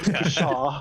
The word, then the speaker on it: pshaw: And he says it as the word, not the sound. Yeah. Pshaw. Proper full phonetic pronunciation.